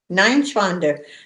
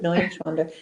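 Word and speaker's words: Neuenschwander: no inch fonder yeah my brother-in-law would say nine shfunder nine schwander nine schwander yeah nine sure i thought it was noise wonder nine schwander yeah anyway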